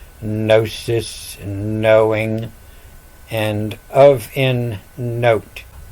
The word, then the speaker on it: gnosis: And that's why the G is silent always in gnosis, knowing, and of in note.